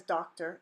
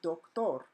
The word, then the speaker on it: doctor: the English word doctor but this is not pronounced as doctor in Spanish it's pronounced doc Thor SoDo not dock and toll not her okay